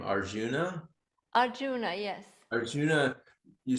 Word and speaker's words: Arjuna: I think it was yesterday's discussion, and how you pronounce his name, Arjuna. Arjuna, yes.